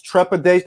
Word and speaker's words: trepidation: It's trepidation. That is 4 syllables, by the way.